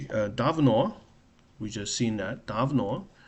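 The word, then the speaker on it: давно: Davno, because O is stressed, so I is unstressed.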